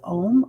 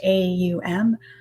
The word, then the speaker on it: Om: two ways that you can pronounce it as ohm or a-u-m um okay i think for